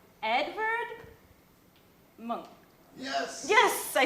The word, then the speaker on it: Munch: I'm gonna I'm gonna butcher his name Edward monk yes yes I said it right I've been saying I'm pronouncing it the American way so I have